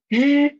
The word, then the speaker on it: 日: For 日, roll up your tongue a little bit, and then try to vibrate your vocal cord here. Vibrate it and try to pronounce this word 日.